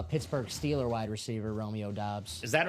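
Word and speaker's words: Doubs: I know it's Dobs, but Dubes. How is it pronounced? Doss. Doss. Yes. soon to be pronounced uh Pittsburgh Steeler wide receiver Romeo Dobs.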